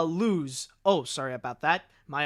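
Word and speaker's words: Luz: adventures with superman eh also it's pronounced uh lose oh sorry about that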